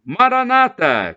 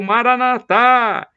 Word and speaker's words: Maranatha: do aramaico Eu Clamo Maranata como dizem os protestantes ou evangélicos com a tônica na penúltima sílaba ou Maranatha como dizemos nós católicos com a tônica na última sílaba não importa o que